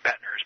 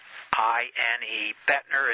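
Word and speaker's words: Boettner: They can, other than I want to give them Bettner's before we close up.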